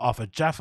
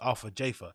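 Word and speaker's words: Arthur Jafa: with Arthur Jaffa which now we know his pronunciation is not after Jaffa it's Alpha Jaffa and Tremaine did also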